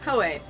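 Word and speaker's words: Hōei: Okay, how do you pronounce it again? Hoei. Hoei.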